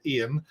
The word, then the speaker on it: Ian: name wrong many people many Americans get my name wrong as well and say I am instead of Ian so I'm gonna say